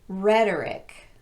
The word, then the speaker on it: rhetoric: don't follow this pattern here are the words that are exceptions to our rule they're all stressed on the first syllable with the exception of the last one Catholic bishopric politic arsenic lunatic rhetoric turmeric and arithmetic that